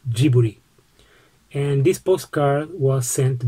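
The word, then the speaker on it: ジブリ: tonari no totoro and if you want to say ghibli in japanese it's giburi and this postcard was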